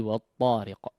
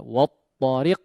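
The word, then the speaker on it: والطارق: Baik, peringatan yang lain adalah di huruf waw mungkin ya. Di huruf waw ya, jangan di wa bunyinya, difathahkan ya. Wat-tariq la. Wa fathah disempurnakan pengucapan fathahnya daripada huruf waw. Wat-tariq wa jangan dibiarkan di depan. Huruf waw memang dimonyongkan secara bacaan ya, tapi ketika to ya usahakan tidak perlu di depan ya, atau tidak perlu dimonyongkan kedua bibirnya.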